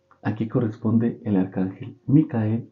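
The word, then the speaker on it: מיכאל: Y el arcángel Miguel o Micael, como es como se pronuncia en hebreo, su nombre significa quien como Dios o el que es como Dios, es lo que significa.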